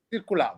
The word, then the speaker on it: Circuladô: Tu hai citato un disco di Caetano Veloso che si chiama Circulado, l'ho pronunciato bene? Sì, Circulado.